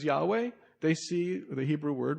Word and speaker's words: Yahweh: It's a reconstruction, but probably be pronounced as Yahweh.